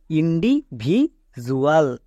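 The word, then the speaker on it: individual: তাহলে এর উচ্চারণটা কি দাঁড়াবে, ইন্ডিভিজুয়াল। কারণ দেখো ডি এর জন্য জো হচ্ছে।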